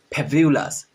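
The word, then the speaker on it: fabulous: फेब्यूलस, फेब्यूलस, fantastic, fantastic. Okay. उसके बाद आता है जी, एच, आई, ये सारे प्रोनाउंसिएशन करेक्ट कहते हैं आप।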